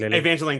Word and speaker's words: Evangeline: right miss lily uh who plays wasp evangeline evangeline thank you eventually lilly who plays wasp she